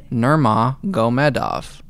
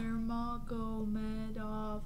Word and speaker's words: Nurmagomedov: Well, if you look at it though, like Giga Chikadze, it literally looks exactly how it's spelled. Nurmagomedov. You know? Nurmagomedov.